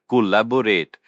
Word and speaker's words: collaborate: The stress is on the second syllable. Lab. Collaborate.